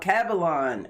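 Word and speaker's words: Alkebulan: of africa the continent what is kebalon oh cavallon how do you spell that land of the blacks a-l-k-e-b-u-l-a-n oldest name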